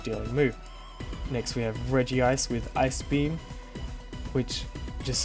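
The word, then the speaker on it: Regice: want to pick up it's not reg ice it's Reggie ice otherwise it's not the Reggie Trio it'll be the reg Trio I don't know why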